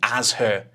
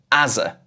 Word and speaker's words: as her: This says as her, but I never say as her in normal conversation. I'm more likely to say as a.